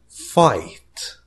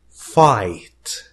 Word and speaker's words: fight: Fight. Fight. جي لا تنطق.